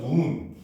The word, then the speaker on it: 눈: 자, 예를 들어서 우리가 하늘에서 내리는 눈이라고 하는 단어를 쓰면은 이제 발음기로 쓰면 눈. 이렇게 쓸 거 아니에요. 그렇죠? 요거를 의문으로 쓰게 되면 어떻게? 니은. 오에다 요 장음 표시가 들어가요. 그 다음에 니은. 요렇게 표시를 합니다.